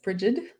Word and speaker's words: Brigid: ask goddess bridget and i know that that's not the celtic way to say her name but that is the way i'm going to say it there are many ways to say her name and that's how i will be saying it today and we'll call her